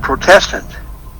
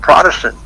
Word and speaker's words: Protestant: because even the word Protestant, it's called Protestant. That isn't the way you pronounce that word. It's Protestant.